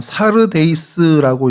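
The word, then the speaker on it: Σάρδεις: 어 사르데이스라고 이제 헬라어로는 그렇게 발음을 하는데 그래서이 단어 뜻을 여러 가지로 이제 생각을 해요.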